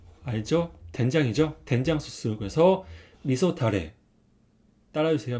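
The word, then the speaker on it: 味噌だれ: 주세요 카라시네 카라시 그다음은 이거는 유자 후추라는 소스입니다 발음은 유즈코쇼고 있습니다 따라해 주세요 유즈코쇼 유즈코쇼 세 번째는 이거는 알죠 된장이 된장 소스 그래서 미소 타레 따라주세요 미소 타레 미소 타레네 그다음에 또 우뎅 주문할 때 좀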